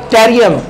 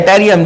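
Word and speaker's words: Yttrium: शुरू हो रही है, इसको टेरियम बोलते हैं, Y silent टेरियम, वाई E double T रहता है टेरियम, ठीक है।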